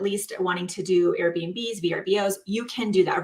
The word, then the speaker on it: VRBO: You can do that, Verbos. You can do that. How many of you? Yeah, I know. I always say it wrong and then I hear the commercial. I'm like, Verbo.